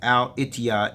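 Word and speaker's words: الاتحاد: in Arabic right here and ETI is actually pronounced as al-itiya in the Arabic language and next to the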